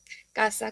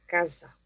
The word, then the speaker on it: casa: se hace en español, como diría con el término casa, que tiene el mismo significado, sí, pero no se pronuncia igual, ya que en italiano sería una especie de Z, sería una s, podríamos decir más torona. Yo en italiano no diría casa, como digo en español, sino que diría casa.